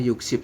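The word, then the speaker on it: 육십: Yuk ditambah dengan SIP, maka dibacanya adalah yuk SIP.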